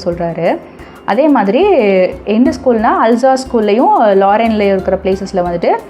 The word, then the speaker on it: Alsace: Sorry, இது வந்துட்டு அல்சாஸ்னு pronounce பண்ணணும், அல்சாஸ்.